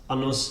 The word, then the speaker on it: annus: Anus is also a Latin word, of course, but anus has a long R sound at the beginning. The short R is annus, meaning old woman.